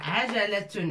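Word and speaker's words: عجلة: Vous voyez, toutes les lettres contiennent fatha, fatha, fatha, fatha. A, ja, la. Tun, a, ja, la. Tun et tun pour le féminin.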